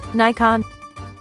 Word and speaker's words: Nikon: Nikon.